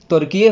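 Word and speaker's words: Türkiye: हुआ कुछ नहीं है, बस लास्ट में इन लोगों ने ई लगा दिया है और उसकी प्रोनाउंसिएशन अब टर्की की जगह तुर्किये हो गई है ना, तुर्किये, ठीक है।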